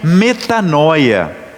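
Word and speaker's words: μετάνοια: evangelho escrito em grego essa palavra converter conversão se pronuncia metanoia esse palavrão né metanoia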